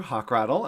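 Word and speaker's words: Hochradel: It's just hawk with a rattle, like a hawk with a little rattle.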